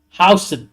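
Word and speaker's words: Huijsen: they can confirm that we have got Dean House. That is how you pro that is how he prefers you pronunciate his name.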